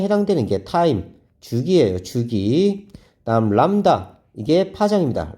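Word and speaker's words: λ: 그다음 람다. 이게 파장입니다. 람다라고 읽어요. 람다.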